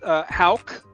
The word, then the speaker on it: Hauck: It's just Hauck, again, phonetically pronounced H-O-W-K, but it's H-A-U-C-K because my ancestry is German, is what it is.